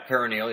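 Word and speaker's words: peroneal: perineal strain or a perennial strain, the ligament outside the ankle going down the calf or whatever. Did I pronounce that correctly? Yeah, perineal, yeah.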